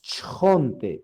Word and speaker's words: chonte: Recordemos que para pronunciar cada una de las letras no vamos a agregar ni una vocal, ¿verdad? Es chonte, chonte, ¿verdad?